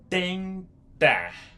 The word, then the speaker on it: tentar: Tentar. Tentar. T-E-N-T-A-R. Tentar. Tentar. And when you're pronouncing it, this letter here is D.